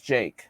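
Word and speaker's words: JVKE: say his name okay I have confirmed it's Jake it's not Juke it's Jake which I already thought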